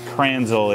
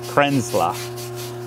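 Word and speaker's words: Kränzle: pronounce it but anyway it's not cranel it's Kena krena because of the umla which has a like a like a like a sort of not a long e not a not a but a but an e like an a CR crena and so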